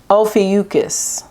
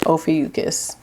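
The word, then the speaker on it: Ophiuchus: Ofucus, that's how you say it. Ofucus.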